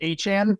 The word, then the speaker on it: A-Chan: I just found out that A-Chain's last name is pronounced A-Chan, which I don't like, but I'm going to attempt to do it.